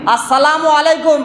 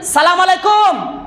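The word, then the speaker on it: السلام عليكم: যাও কথাটা বুঝতে পারলেন শব্দগুলো স্পষ্ট উচ্চারণ না করলে মানেটা একদম উল্টোপাল্টা হয়ে যাবে আপনি কাউকে যদি বলেন সালামু আলাইকুম সালাম দিলেন সালামু আলাইকুম মানে আপনি কি বললেন জানেন যে তুমি তাড়াতাড়ি মরে যাও মরে যাও মরে যাও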